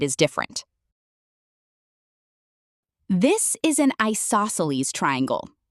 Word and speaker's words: isosceles: This is an isosceles triangle. You can say it like I sauce a lease.